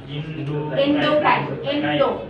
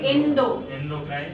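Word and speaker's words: endocrine: এন্ডোক্রাইন। এন্ডোক্রাইন, Indo না কিন্তু, হ্যাঁ, এন্ডো বানানগুলো এরকম কিন্তু এভাবে উচ্চারণ করতে হবে, এন্ডোক্রাইন।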